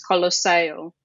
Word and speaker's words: Colosseo: now, got this nickname, Colossus, Colosseo, which is how you say it in Italian, or to us, it's Colosseum.